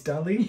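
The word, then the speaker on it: Dalí: the melting clock yeah oh it's Deli okay yeah but it's spelled differently uh okay wait that's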